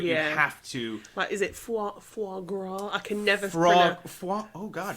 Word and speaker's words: foie gras: I'm just gonna play the proper pronunciation. I'm on the edge of my seat. Yeah. Here we go. Foie gras.